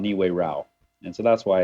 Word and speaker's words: Niue Rao: A lot of people have a hard time pronouncing it. Niue Rao.